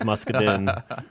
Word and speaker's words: Muscadin: But when he ruined my life and told me that it was Muscadin, I decided I better stick with him. 1, he's a lot bigger than me. And 2, that's actually how you pronounce it.